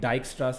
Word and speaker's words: Dijkstra: read about the the dijkstra's algorithm uh it's got a weird spelling so don't mind that um it's pronounced dijkstra uh all right so